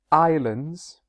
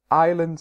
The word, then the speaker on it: islands: frequently battered the word islands and also the word Isles remember that the word islands and Isles has a silent S so the exam is